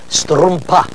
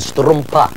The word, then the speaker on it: strumpa: The word for sock, I needed some socks, is strumpa. It's sort of an explosive sound at the end, strumpa.